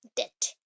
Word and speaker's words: debt: बट ईप अगर मैं question कर रही हूँ कि DEBT है, बट आप प्रोनाउंस कर रहे हो उसको क्या, डेट, डेट, DET, डेट।